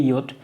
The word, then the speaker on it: yacht: देखो इसका प्रोनाउंसिएशन होता है योट।